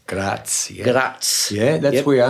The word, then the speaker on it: Graz: Now, you're from, see if I can pronounce this properly, Graz? Graz, yeah.